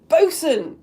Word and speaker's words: boatswain: And they say, their first line is, Bosun! It looks like boatswain. Now we pronounce it bosun.